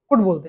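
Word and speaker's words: could: कुड। L silent होता है इसमें ना, कुड बोलते हैं इसको।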